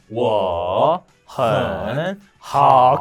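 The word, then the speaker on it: 我很好: 원어민 어조로 읽으면 ' 워 헨 하오 ' 가 됩니다 . 그렇게 요 . 오른쪽 ? 그냥 " 워헨하오 " 라고 말 하면 돼 요 . 첫 번째 는 3 도 음정 의 절반 입니다 .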